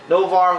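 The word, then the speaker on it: Noh-Varr: It starts off with Kate Bishop and Novar. I was right. Novar, who is no longer allowed on Earth. For those of you that read the whole Phoenix saga, you know that Novar actually turned on the Avengers and his people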